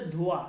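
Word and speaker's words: دھواں: তাহলে ধোয়া, ধোয়া, ঠিক আছে, মানে হচ্ছে ধোয়া, এই যে ধোয়া, দেখেন এই নুনটা, এটাকে নুনে গুন্না বলে, এটা লেখায় আসবে কিন্তু উচ্চারণ হবে না, হালকা একটু নাকে আপনি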